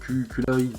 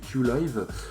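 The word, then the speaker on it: Qilive: alors à la française on pourrait dire Q-Live, mais en fait ça se prononce Q-Live.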